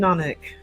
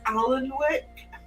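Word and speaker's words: Alnwick: There's a lot of silent letters in North Umbrean words. Even an I live in Anic. Um, and it's spelled A L N W I C K. And the number of people that come in quite understandably say, is this Allen wick? No, it's just an we have an Allen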